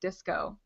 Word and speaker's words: DSCO: just launched DSCO," and they do confirm that it's pronounced disco.